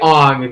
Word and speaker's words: Aang: So, like, they say Ong because, like, that's how it would be pronounced.